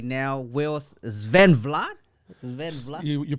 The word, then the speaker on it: Svenblad: actually he's my personal trainer right now will Sven Vlad you pronounce it Sven blood yeah you you definitely don't don't hear that